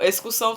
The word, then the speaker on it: excursão: com X é excursão excursão tem som de s mas não se escreve com ele se escreve com x